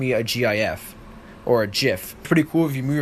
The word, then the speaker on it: gif: timeless panorama a jiff I call the gif I think's pronounced jiff to anything so I